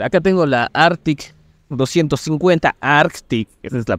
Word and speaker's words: Arctic: hay que diferenciar Acá tengo la Arctic 250 Arctic Esa es la pronunciación Y esa tiene un r de 17